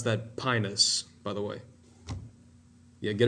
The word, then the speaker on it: Pinus: You pronounce that pinus, by the way.